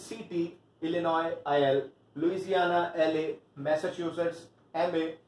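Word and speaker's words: Illinois: सो इट्स अर्कैनसस AR, Connecticut CT, इलिनॉय IL, Louisiana LA, Massachusetts MA, Mississippi MS, new Hampshire NH, Ohio OH and Tennessee TN।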